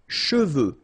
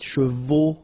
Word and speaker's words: cheveux: Sèche, okay, sèche, and then cheveux. Usually this one is a bit of a problem because some of the students normally pronounce it chevaux, okay?